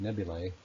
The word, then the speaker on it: nebulae: Nebulas, the plural can also be pronounced nebulae, are made up primarily of cosmic dust and ionized hydrogen, which gives them their color.